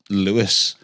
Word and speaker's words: Louis: So he's pronounced Lewis but his name is spelled Louis.